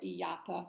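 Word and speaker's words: Illapa: the Incan artifacts um elapa or yapa would be pronounced probably of Thunder God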